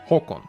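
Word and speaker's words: Haakon: That is actually what our crown prince is called, although he spells his name with two A's, Håkon, but it is still pronounced Håkon.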